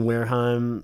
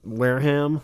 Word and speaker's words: Wareham: a big fan of Deen Wareheim Wareham I believe it's pronounced even if you don't